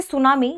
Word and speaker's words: tsunami: गलत लिखें ध्यान रखिए सुनामी में टी पहला शब्द है यहां टी साइलेंट है और इसे सुनामी यानी इस तरीके से